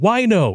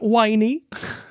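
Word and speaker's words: wino: why why no dude why no is the correct pronunciation why no not whiny i did over here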